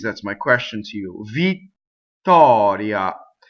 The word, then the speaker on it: Vittoria: Vittoria. It's not two T's, it's a stop, right? It's a stop, it's a space that makes the double T.